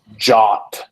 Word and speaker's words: JWT: Pronounced JOT per the spec, pronounced JWAT by yours truly. I think my pronunciation's better.